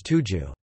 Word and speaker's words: Tujue: The first recorded use of Turk as a political name appears as a 6th century reference to the word pronounced in modern Chinese as Tuju.